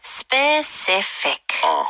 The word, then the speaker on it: specific: 자, 다음은 특정한 specific. Specific. Specific. CI의 강세가 좀 많이 들어가는 것 같아요. 그렇죠?